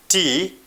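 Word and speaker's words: ته: To pronounce it, we pronounce T-A-H.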